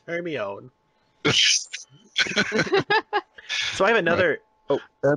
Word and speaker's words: Hermione: were yelling, saying, you're saying it wrong, it's Hermione.